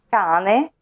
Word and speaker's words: cane: lettera doppia cambia significato Per esempio vediamo cane l'animale domestico e diverso da Canne le canne di bambù casa e diverso da cassa casa cassa note notte Polo pollo sera